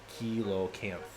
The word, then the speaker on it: coelacanth: Got to, actually this chat, it's actually pronounced Coelacanth.